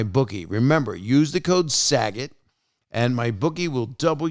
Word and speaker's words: Saget: intuition and use the promo code saget yes it's spelled s-a-g-e-t and use that promo code sag it and double your first deposit new players get